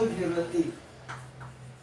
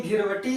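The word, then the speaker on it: Ghiberti: और देखिए, जब इंग्लिश में हम लोग ता लिखते हैं तो ये इंग्लिश में टी होता है। ठीक है, तो कोई कोई इसका उच्चारण जो है ता करता है, कोई कोई इसका उच्चारण टा करता है।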